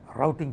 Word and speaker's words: routing: capacitance to substrate and those capacitance are called the rooting capacitance or you can pronounce it like routing capacitance whichever way you like okay so it depends which part of the world you are talking okay if you're talking America routing capacitance other thing is device